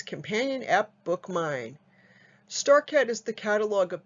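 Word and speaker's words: BookMyne: your app store and bookmine is spelled b-o-o-k-m-y like my and e the digital catalog and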